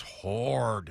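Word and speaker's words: Hord: good to Mark uh hard is spelled h o r d says hard it's hard but emphasis on hard definitely and I I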